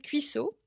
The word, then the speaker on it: Cuissoh: Donc, mon side project, ça s'appelle Cuisseau. Ça s'écrit OH, pas OT, parce que sinon, ça fait vraiment un cuisseau.